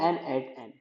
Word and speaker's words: n8n: About an eight N. N eight N pronounce.